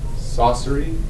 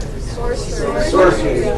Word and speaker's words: sorcery: Like, was this the class where I said saucery? No. Everyone knows that. Everyone knows that. Everyone watched that video. Everybody saw saucery instead of, how do you say it? Sorcery.